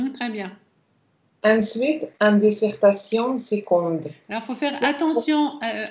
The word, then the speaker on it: seconde: Curieusement, on ne dit pas seconde, mais on dit seconde avec un G. Seconde. C'est une exception en français. Le mot seconde, on le prononce seconde avec un G, comme guenon, comme voilà, guépard.